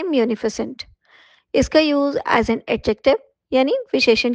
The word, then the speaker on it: munificent: आई सी ई एन टी और इसे हम प्रोनाउंस करते हैं मफस्य एज एन एडजेक्टिव यानी विशेषण की तरह किया